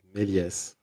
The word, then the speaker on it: Méliès: Yes, the S isn't silent in this word. Méliès.